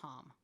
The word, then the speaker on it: ham: And the Bija mantra is hum. Spelled like ham. Spelled like ham. But it's hum.